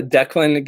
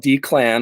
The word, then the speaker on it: Declan: all the time uh Declan is called d-clan all the time I'm not sure why there's no hyphen in there no extra capitalization but either way I